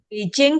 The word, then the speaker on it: Beijing: Ini contoh-contoh Beijing kemarin bacanya gimana?